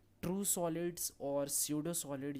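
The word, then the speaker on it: pseudo: ठीक है, इसीलिए इसको हम लोग क्या बोलते हैं, स्यूडो solid, P silent, स्यूडो solid.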